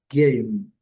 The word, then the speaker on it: game: Aqui também delongas game alerta. Aqui eu coloquei o sublinhado no M porque a letra M em inglês tem que ser pronunciada ao final das palavras, fechando-se a boca. Game, game, game.